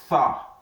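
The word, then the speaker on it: ث: So we have to keep our tongue out that is tha tha when we are pronouncing we call tha. So what this can stand what we can compare this in English language is what is three like this.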